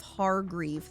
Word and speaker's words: Hargrief: Sheriff Hargrief. That's how you say his name.